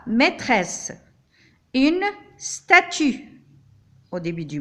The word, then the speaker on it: maîtresse: Ici, nous avons deux S entre les deux voyelles, c'est-à-dire je dois les prononcer comme S. La maîtresse.